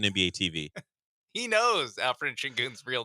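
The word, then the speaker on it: Şengün: The funny thing is he got the hidden S or SH at the beginning because it's Shingun. Yeah. If you think it's Singun.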